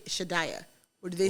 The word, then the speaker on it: Shadaya: is okay what is it that's how you pronounce it correctly yeah yeah okay okay so okay so are we saying it properly shiddaya yes okay all right for for you would you do your parents say shadayah or do they say you're dying who cares